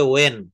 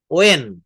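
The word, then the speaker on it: when: হুম, আমরা হোয়েন বলি, আসলে এটা হোয়েন না, এটা উচ্চারণ হবে ওয়েন। ওয়েন, নট হোয়েন।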